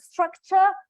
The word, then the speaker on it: structure: just tell them, look, this is URE, just let's treat it as cha cha cha, and this is cha chow. This is a very natural sound for them. So and I know, I probably think that from cha cha cha is just easy to get to schwa sound.